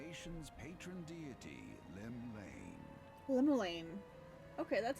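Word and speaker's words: Llymlaen: Gaze of the nation's Patron deity Lim Lane lolan okay that's how you pronounce it line where hi fcri inning of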